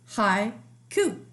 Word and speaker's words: haiku: a high ku haiku can you clap that word for me hi ku I notice there's two syllables in that word haiku high Q is